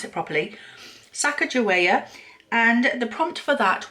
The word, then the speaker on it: Sacagawea: up and uh to find out how to pronounce it properly Sacagawea and the prompt for that was something that